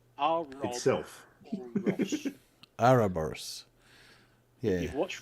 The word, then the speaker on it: Ouroboros: it's pronounced Ouroboros.